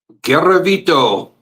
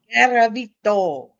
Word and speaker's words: Garavito: Garavito. Garavito.